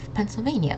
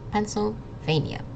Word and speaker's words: Pennsylvania: So this double N is just the N sound, and then this SYL sound might be a little tricky. It's just pencil, like the word pencil, the thing you write with.